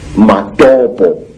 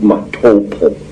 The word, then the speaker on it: Matopo: And one of these parts of Africa, say, is a remarkable place called the Mountains of the Round Rocks, Matopo, wrongly pronounced Matopo, in Zimbabwe.